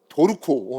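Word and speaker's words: Dorco: 도르코. 어 도르코. 도르. 도르코가 우리나라 기업이에요, 여러분. 일본게 아니에요. 수출을 해야 되는데 우리나라 식으로 발음을 하면 안 팔릴 것 같아서 의도적으로 르 아 R를 루에서 도루코라고 만든 거예요.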